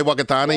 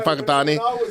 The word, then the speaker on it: Whakatane: You're about to say Whakatane, you changed to Whakatane.